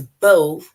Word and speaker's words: bow: Then the second one, bow, but it's not bow, it's bow, right? That rhymes with low.